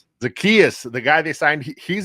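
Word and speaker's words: Zaccheaus: And he's already behind because he missed all the offseason and uh Ol give me the pronunciation. Oland Zakayas. Zakias. Zakias, the guy they signed.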